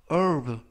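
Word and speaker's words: herb: 라고 발음 하시면 되겠구요 이 때 유의하실 점은 앞부분에 있는 맨 앞에 있는 알파벳 h 가 이번 단어 해서 묵음 이라서 발음이 되지 않습니다 그래서 프로그 가 아니라 으 르 라고 발음 하시면 되겠구요 품사는 명사 뜻은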